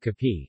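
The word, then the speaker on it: kape: options to take with Cappy which is the Filipino pronunciation of cafe coffee breads and pastries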